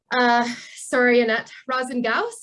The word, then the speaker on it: Anat Rosengaus: Anat Rosengaus, is that how you pronounce it?